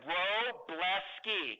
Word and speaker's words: Wroblewski: on that couple things my last name is Polish some people have our team pronouncing it so in the spirit of lean I'm going to give you a visual aid my visual aid is row blessky can everybody say that